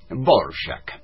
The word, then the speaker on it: Dvořák: de Antonín Leopold Dvořák, que se escribe D-V-O-R-A-K. En la R hay un acento a la francesa y en la A un acento al español. Bueno, en fin, Dvořák. Todos le dicen Dvořák, bienvenido señor Dvořák, usted es un genio.